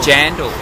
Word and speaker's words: jandal: Yeah, the thong is a jandal. It like rhymes with sandals, like jandal sandals.